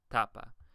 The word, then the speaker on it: tapa: the pen ultimate syllable for example tapa you'll notice the second to last syllable is T and so that's where the stress is I never say tapa I always say tapa same thing if we